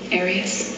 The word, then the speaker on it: Arias: I've heard it pronounced about 7 different ways. I say Arias, as does the rest of my family.